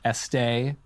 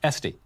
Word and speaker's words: Estee: my pleasure first off when I first saw your name I was tempted to pronounce it Estee as in louder but it is estd yes no accent so americ version very